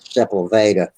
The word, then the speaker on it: Sepulveda: about that area and I always pronounced it in my head Sepulveda but I guess is it yes that's how that's right yeah here we have